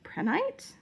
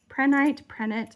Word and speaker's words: prehnite: This one appears to be prehnite. Prenite, I've seen it pronounced both ways, but it has a lot